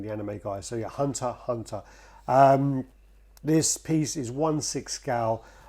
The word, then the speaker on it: Hunter x Hunter: This is a Hunter x Hunter written on paper, but it's actually pronounced Hunter Hunter. I got butchered by saying... Yeah, Yoshimitsu came after him. I said Hunter x Hunter a few times, and